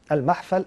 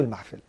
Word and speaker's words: المحفل: المحفل، وهي تنطق بفتح الميم بفتح الفاء او كسرها، المحفل او المحفل.